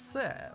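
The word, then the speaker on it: セ: せ This is se or se. Pronounce it as se, like in the word set.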